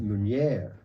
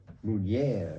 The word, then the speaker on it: Meunier: It's called Meunier. Meunier. Meunier. Can you Yes.